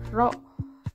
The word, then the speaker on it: rho: fluida atau massa jenis fluida itu sama dengan rho. Ini dibacanya rho ya.